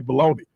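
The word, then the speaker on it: bologna: go in the store we say baloney but it's spelled balal but where's the baloney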